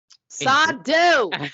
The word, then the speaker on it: Sardo: Sardo! No Mr. accent on the dough.